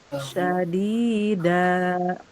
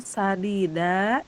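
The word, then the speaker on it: شديدة: Syadida itu sangat keras. Kalau sadida itu artinya benar. Terus ibu bacanya gini. Fa'u'adzibuhum adzaban sadida. Biasa berarti azab yang benar, bukan azab yang sangat keras. Atau wal yaqulu qawlan syadida, pakai sya berarti perkataan yang sangat keras, bukan yang benar.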